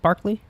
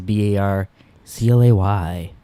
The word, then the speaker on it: Barclay: How does he spell it, Barkley? B-A-R-K-E. They spell it different. His is B-A-R-C-L-A-Y. Oh, well, So really it's Barclay. Hey, Barclay. They say Barkley.